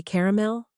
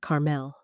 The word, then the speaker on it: caramel: "Mom," she would say softly, "people say caramel, not Carmel."